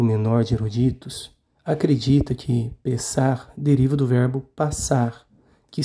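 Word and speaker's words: פסח: a sua origem verbal palavra Páscoa em hebraico se pronuncia pensar e se escreve com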